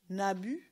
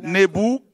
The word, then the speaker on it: Nabu: Nabu. Nabu. Donc, Nabu ça donne Nebou.